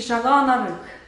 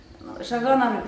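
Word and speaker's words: Шагаан-Арыг: Ну, он правильно произносится по-тувински Шаганарык. Шаганарык, ну это как новогодний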